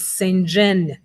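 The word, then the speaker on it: Psenjen: And she told me it is Senjen. So at this juncture, our next speaker is Evelyn Senjen.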